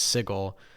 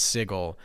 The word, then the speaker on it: Sigil: as I understand it the guy that made the setting did not know how to properly pronounce that word and so he very boldly said it was sigle uh and that has sort of become the um I guess sort of the uh the pronunciation of it though technically you're really